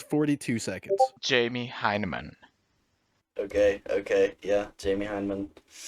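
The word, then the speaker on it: Hyneman: time you've said it how do you say it Jamie heinemann heinemann yeah there's an in there heinemann h-y-n-e-hyman I mean you could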